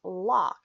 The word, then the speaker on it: LOC: wisdom here to serve you but LOC is pronounced LOC because you are locking your future in place